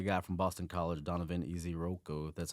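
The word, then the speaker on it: Ezeiruaku: I had the guy from Boston College, Donovan Iziroko.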